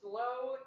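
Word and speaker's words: sloe: Now I'm going to exhibit another classic gin cocktail known as a slow gin fizz.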